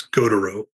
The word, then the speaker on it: Gautereaux: It's Gautereaux.